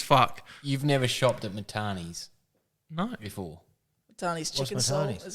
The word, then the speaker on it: Matane: It's Matane.